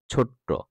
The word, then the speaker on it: ছোট্ট: গ্রীষ্ম, প্রকৃতি, সূর্য, ছোট্ট, এখানে কিন্তু ছোট না, ছোট্ট, গ্রাম।